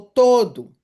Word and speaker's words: todo: A pronúncia é do O, o primeiro o e o outro o acaba sendo reduzido porque a sílaba é uma sílaba átona, não é uma sílaba forte.